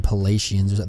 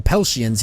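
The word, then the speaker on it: Peltians: Pell shins here they I was pronouncing that wrong and the other episodes the fake up saying palatians the pell shins here they are only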